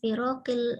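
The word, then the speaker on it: فرق: fiha fatarattaba ala nash'atil firaqil islamiyati fil asril ula al-hijri a'damul khilaf bainal ummah. Dibacanya firaq. Jadi supaya tidak jatuh pada kan, bacanya pakai mad, maka harus di-stressing pada huruf sebelumnya.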